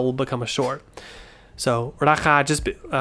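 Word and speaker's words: ราคา: But what often happens is when you're speaking quickly is with a two syllable word, which they're both long vowels. So if you have a long vowel together and it's the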